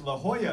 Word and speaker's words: La Jolla: What's interesting is La Jolla is pronounced with the ya sound rather than La Jolla or La Jolla or whatever.